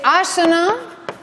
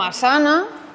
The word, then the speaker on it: Asana: Por tanto, es Arjuna, Arjuna y no Arjuna. Arjuna. Es Asana y no Asana. Es Sarasvati y no Sarasvati, es Parvati y no Parvati, ¿vale? Es Arjuna, es Asana, Sarasvati, es Mandala, no Mandala.